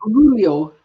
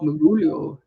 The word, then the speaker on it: Mugolio: Mugolio. That's good. That's very good. Magolio? I don't know. Mugolio.